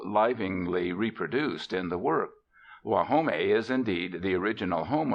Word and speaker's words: Guajome: They pronounce it Guajome, and it means the place of the frogs, standing cool within the shadow of great cypresses.